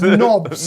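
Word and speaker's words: Nobz: We're Are they here for you, nubs? mate. They're mega knobs. Mate. Mega nubs. No, please pronounce the word of my people correctly. It's knobs. Knobs.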